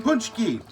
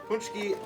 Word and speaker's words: Pączki: We call them Pączki.